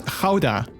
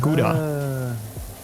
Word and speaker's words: Gouda: dutch you would pronounce it as you would pronounce it as houda instead of gouda with a soft g instead of you know